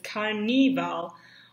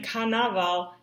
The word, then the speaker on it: carnaval: have Spanish accents, and even Bart in the last scene says carnival, when carnaval is actually spelled with an A, not an I.